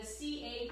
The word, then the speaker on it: caprese: So the Italian lesson today is the vowels in Italian are always pronounced the same. A is, or A, see I'm going to get mixed up, is A, and E is pronounced A. That's why the Caprese is pronounced caprese.